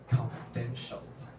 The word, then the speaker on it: confidential: First, uh please pay attention to the pronunciation of confidential. The stress should be on the third syllable, but it was pronounced with the stress on the first syllable earlier.